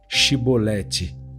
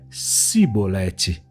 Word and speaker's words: Shibolete: E dizendo ele não, então lhe diziam: dize, pois, Shibolete. Porém ele dizia Sibolete, porque não o podia pronunciar bem.